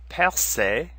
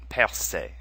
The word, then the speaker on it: percer: They're both pronounced the same, percer and percé. Notice that the first E is our accent grave sound, where the final E in both words is our accent aigu sound.